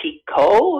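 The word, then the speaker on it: Picoult: i've ever read her jodie pico is that how it's pronounced yeah yeah yeah i i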